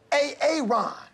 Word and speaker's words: Aaron: I'm just asking, you know, I said it like four times, so why didn't you say it the first time I said A-A-Ron? Because it's pronounced Aaron?